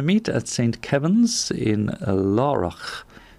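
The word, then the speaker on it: Laragh: at saint kevin's in laura is how i would pronounce it or lara maybe as others might l-a-r-a-g-h and that's in glendalough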